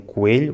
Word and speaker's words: coelho: Coimbra also gets a point because they say “coêlho” instead of “coâlho”. Alentejo, Algarve and Azores also say “coelho”, which is correct, but they don't get